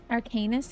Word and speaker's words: Arcanist: Arcanist is how you say it. That's not how I've been saying.